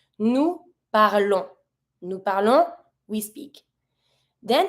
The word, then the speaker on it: parlons: This one we pronounce. We pronounce the on, not the s, but we do pronounce the on. So we're gonna say nous parlons.